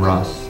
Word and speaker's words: Russ: I still somehow got Ross the Boss so Russ the bus became Russ the boss and I had to say no no no it's Russ the boss not Russ